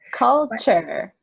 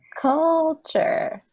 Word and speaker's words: culture: Culture. Okay. Culture. So it's culture. It's not like culture.